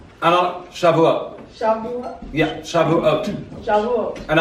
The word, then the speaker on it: Shavuot: What does this have to do with, how do you pronounce that? Shabbat? Oh, Shavuot. Shavuot.